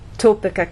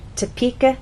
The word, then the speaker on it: Topeka: kin or ken so we do not say toppika Kansas the correct pronunciation is Topeka Kansas get it exercise to listen to the